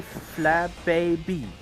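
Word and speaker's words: Flabébé: thing the bay and the last one you uh pronounce from the English word bee the honeybee. But it's really flab baby. That sounds so awkward. I just stay with flab baby.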